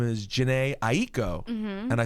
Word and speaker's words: Aiko: two syllables and then someone in my family explained to me that that is the Japanese way to say it you can say Aiko right but the what